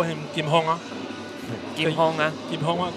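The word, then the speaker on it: 金鋒: Kim Hong, that's the Taiwanese pronunciation of his name.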